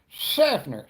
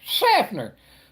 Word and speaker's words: Schaffner: Now say it right. You kind of just really got to lubricate your teeth and be like, Schaffner, Schaffner, Schaffner. You know, you really got to try to get it to whistle.